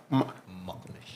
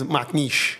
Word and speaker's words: McNish: McNish. That's not how you say it, but it's McNish.